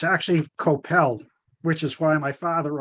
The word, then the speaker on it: Kopel: me i see one p so is it copal like leora said or is it couple as in head cobble which is what i called you well it's actually koppel which is why my father always used a